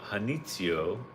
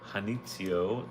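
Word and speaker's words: Janitzio: Hanitio or Janitio. I don't think you pronounce the J. So, Hanitio, located on the La Isla de Hanitio, the largest of five islands.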